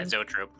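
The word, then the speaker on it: zoetrope: Uh, Zo Zoatrope, how do how to pronounce it? Yeah. Zotrope.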